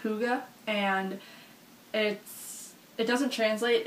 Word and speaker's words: hygge: of this but there's a Danish word it's pronounced hygge and it it doesn't translate into English but